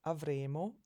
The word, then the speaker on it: avremo: almost spelled the same, but there is a difference in the way that they're pronounced, and in Italian we'll never mistake the two. Future is avremo, and then the conditional is avremmo. So remember to put that more of a stress on a double consonant.